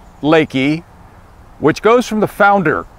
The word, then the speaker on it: LEKI: a little bit about Lakey the name is pronounced Lakey which goes from the founder klouse lenhard that's